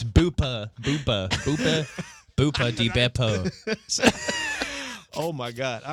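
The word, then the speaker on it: Buca di Beppo: Not Starts with Booba de Beppo. It's Boopa di Beppo.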